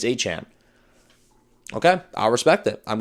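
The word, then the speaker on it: Etienne: I gotta get used to saying Han because it's spelled like ETN and for years people said ETN, but he's went to his introductory conference with the Saints and said it's Achan.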